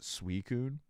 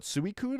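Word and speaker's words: Suicune: I pronounce it suicun. Yeah, I've heard people call it suicun. I've called them. Suicun I've heard so many different pronunciations. And the best part is they're all right because Pokemon said it doesn't matter. Hound.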